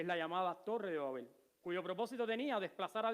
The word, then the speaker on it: Babel: Babilonia, que significa en idioma acadio, puertas del cielo, que significa en idioma hebreo, confusión, y que en realidad en idioma hebreo se pronuncia Babel, pero Babilonia es porque está en idioma griego, que es como se conoce a esta ciudad.